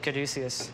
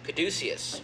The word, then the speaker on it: Caduceus: Caduceus is the winery. Mm-hmm. Merkin Vineyards are the vineyards. Merkin Vineyard. And you're not, you don't have a problem that your winery, the middle syllable almost sounds like douche?